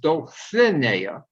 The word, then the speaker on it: Dulcinea: were doing the song dulcinea and he decided it was castilian and it should be pronounced dolphinair and i can't sing this